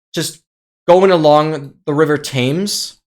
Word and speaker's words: Thames: So I ended up just going along the river Thames. In German it's called Themse, but in English it's Thames, obviously.